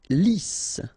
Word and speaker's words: lisse: Lisse. Double S here, so it's really a strong S. Lisse.